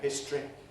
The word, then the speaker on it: history: it's weakened short history either history or in fact that can be lost entirely we can say history with just two syllables zero compare comparison comparable